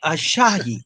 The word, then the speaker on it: Asahi: Ashahi. I think that's how you say it. Ashahi. It's Japanese Let me beer. see. Asahi.